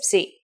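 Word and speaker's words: ψ: If you ever forget how to pronounce this letter, just remember, Psee is for Poseidon and his trident.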